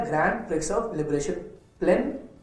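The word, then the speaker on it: Plzeň: ये इवेंट है grand prix of liberation प्लेन PLEZN, जिसमें कि Z साइलेंट है, 2017 शूटिंग चैंपियनशिप में।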